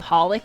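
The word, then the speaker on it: xxxHolic: Uh, which I guess you're not supposed to pronounce the X in it much like Hunter X Hunter. It's supposed to be it's just called Hollic, I guess, but there's three X.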